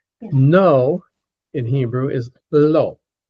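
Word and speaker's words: לא: No in Hebrew is low. Low. Low. Yeah. Like the opposite of high. Low. And that's just exactly how it sounds.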